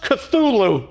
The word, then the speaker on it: Cthulhu: It's pronounced Cthulhu, and no, not him.